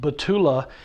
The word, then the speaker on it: Batula: I call it the Butula because it's a spatula big enough for pork butts, so Butula. But I think they pronounce it Batula.